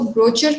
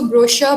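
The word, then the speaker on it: brochure: एक last slide में एक वर्ड था, आपने उसको ब्रोचर पढ़ा, उसको ब्रोचर नहीं, उसको ब्रोशर पढ़ेंगे, श की आवाज़ आएगी उसमें.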